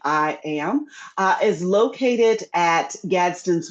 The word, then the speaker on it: IAAM: So I am as we actually pronounce our abbreviation I AAM we pronounce it I am uh is located at